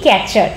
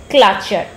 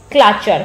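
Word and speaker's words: clutcher: আমরা সাধারণত বলে থাকি ক্যাচার। ক্যাচার জিনিসটাকে আমরা খুব কমনলি ইউজ করে থাকি, কিন্তু ক্যাচার কথাটা ভুল। প্রকৃতপক্ষে সেটার যে সঠিক উচ্চারণ সেটা হলো ক্লাচার। ক্লাচার, ক্লাচার কেন?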